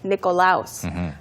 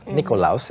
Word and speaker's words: Nikolaus: And next, for example, on the 6th of December, we celebrate Nikolaus. For example, on the 6th of December, we celebrate Nikolaus. 예를 들어서 12월 6일에 저희는 we celebrate Nikolaus라고 독일어식으로 발음을 또 해줬어요. Nikolaus 이렇게.